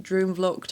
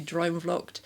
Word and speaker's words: Droomvlucht: I was trying and some lovely commenters have helped me with like drum luck. I was saying it that way. It's actually drum lucked.